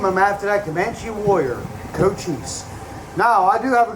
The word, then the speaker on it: Cochise: This is my horse, Cochise. No, that is his name, Cochise. You know, whenever I say his name, some people always ask me if I'm saying goat cheese or co-cheese.